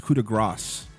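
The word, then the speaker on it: coup de grâce: And by the way, Corey, you're saying it wrong. It's coup de grace.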